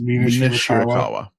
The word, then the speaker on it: Mina Shirakawa: Mina Shirakawa.